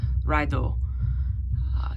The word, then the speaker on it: Raido: Okay, so this is Raido, or Raido, or some people say, or Raidio, but it's pronounced and looks almost identical to radio, as people like to